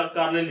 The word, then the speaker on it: Carlisle: लिखा स्पेलिंग ऐसे ही होती है और बोला कार्लिल ही जाएगा, CARLISLE।